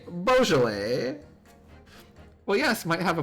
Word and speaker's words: Beaujolais: chat how to pronounce Beaujolais Beaujolais it was right I was right it was bow Beaujolais Beaujolais Beaujolais Beaujolais